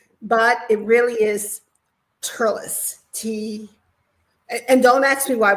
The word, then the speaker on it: Thurles: but it really is Turles, and don't ask me why, but that's how they pronounce Thurles. They pronounce it Turles, and it's a Gaelic influence. They don't pronounce THs here.